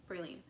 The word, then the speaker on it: praline: Praline, is that how it's pronounced? Yeah, praline.